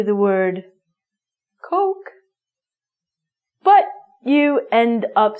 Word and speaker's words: Coke: Pronunciation is cock, meaning the penis, and the drink is Coke. Try this. Coke and cock.